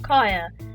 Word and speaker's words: Kiah: But pretty much why I named myself Kiahonfire is because 1, so people can pronounce Kaya right, and 2, fire rhymes with Kaya and fire is cool.